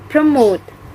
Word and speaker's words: promote: this word is ahli the fifth word is promote the point ethics of this word is promote promote the stress is located on the second syllable and the meaning of